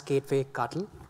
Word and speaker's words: kubectl: get some wrong ideas, this is going to be pronounced as Kubectl and not something else.